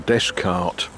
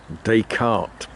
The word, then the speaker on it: Descartes: to the town and I'm going to say it like an Englishman desk cart Descartes uh you know the